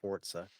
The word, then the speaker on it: Forza: People still play those soccer games, but clearly not more than fucking uh the Forza, as it's pronounced, Forza.